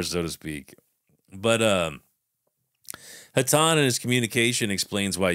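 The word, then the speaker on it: Hatonn: entity that is called I'm just going to say hatan it's spelled h a t o n n but I'm just I'm just saying hatan feels hatani to me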